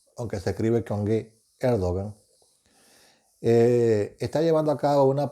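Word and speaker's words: Erdoğan: en turquía el gobernante de turno que es el hogar que los turcos los pronuncian el 2 y aunque se escribe con erdogán está llevando a cabo una política económica absurda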